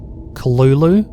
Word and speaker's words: Cthulhu: creator of the apparently cthulhu is supposed to be pronounced like kalulu there's a whole thing